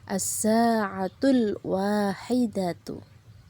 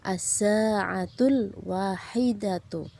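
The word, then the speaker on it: الساعة الواحدة: Maka bacanya yaitu as-sa'atul wahidatu. Ya. Sekali lagi, jarum pendek berada di angka 1, jarum panjang di angka 12, maka bacanya as-sa'atul wahidatu, pukul 1.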